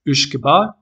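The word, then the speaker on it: uisge beatha: And the name originally, it's Gaelic, it has to be pronounced as Uishkeba.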